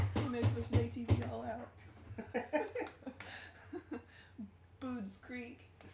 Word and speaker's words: Budds Creek: Boods Creek. Bud's Creek. That's how you say it.